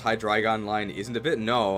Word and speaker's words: Hydreigon: Dre is pronounced like dry? Oh, it is Hydreigon, okay.